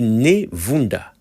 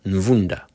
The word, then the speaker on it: Ne Vunda: En fait, c'est écrit Nevunda, mais à mon avis, ça devrait sûrement être Nvunda. Par expérience, je sais que les Européens ont souvent du mal à prononcer la lettre N devant nos noms africains.